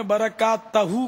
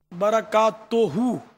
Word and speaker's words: برکاتہ: ملنا دشوار ہوتا ہے۔ وہ برکات توہو کے بجائے آپ نے برکات تہو کہا، تو یہ اس کی بھی تصحیح فرما لیں، برکات توہو صحیح تلفظ ہے۔ کھٹی چیزیں جو ہے